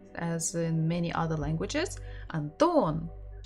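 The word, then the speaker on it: Антон: in many other languages Anton or is it anthem Anton again second syllable everything is on the second syllable a third visit for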